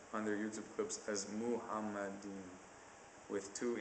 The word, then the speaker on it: Muhammad: much smaller difference between Muhammad that's not even the correct pronunciation I'm getting influenced by you guys it's supposed to be muhamad the M sound is is not elongated and there's no o in the first syllable um in any case